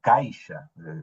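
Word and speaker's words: caixa: Caisha con X. C A I X A. En castellano es caja.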